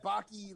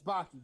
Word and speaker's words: Baki: mma anime but like kenny was like oh bocky like like how many times did they say his name and and we're just like yeah it's baki bro just like stop like